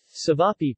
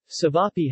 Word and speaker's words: ćevapi: cevapi pronounced t beef pie or cevapcici formal diminutive TV